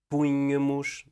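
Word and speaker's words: púnhamos: imperfeito punha punhas punha punhamos Não te esqueças que o estresse está na antepenúltima sílaba primeira pessoa plural ponhamos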